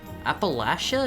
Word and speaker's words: Appalachia: Appalachia if you pronounce it phonetically. Appalachia. Southerners say Appalachia like right back at you. Appalachia. It's it's it's Appalachian, right? No. like latch.